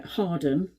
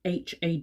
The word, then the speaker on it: Hawarden: North Wales that's flincher it's pronounced uh Harden but it's spelled h-a-w-a-r-d-e-n so it looks like Hawarden and it's a lovely